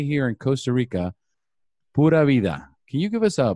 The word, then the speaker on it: pura vida: And as we say here in Costa Rica, pura vida.